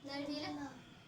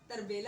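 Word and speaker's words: تربیلا: हाँ, नरबेला। इसको बोलना नहीं आ रहा, प्रोनाउंस नहीं कर पा रही, सही बोला है इसने, तरबेला है। हाँ तो सही, तरबेला तो बोली। तरबेला सही बोला उसने, हाँ।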